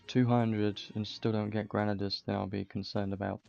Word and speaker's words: Granadas: I'm not gonna lie, what I said originally was, I said, for Granadas, before I even knew how to pronounce his name, I pronounced him Grandis because it was a lot easier, and I never read